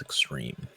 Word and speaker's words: Xtreme: teum Seth X extreme I like the X no no e just extreme pronounced the same so there's a quick